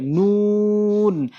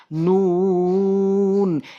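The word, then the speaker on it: نون: উপরের তালুর সঙ্গে লাগিয়ে জিহ্বার আগাটি উপরের তালুর সঙ্গে লাগিয়ে মুখ গোল করে উচ্চারণ করতে হয় টেনে নুন নুন এভাবে আমরা উচ্চারণ করব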